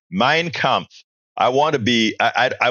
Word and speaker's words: Mein Kampf: Mein Kampf.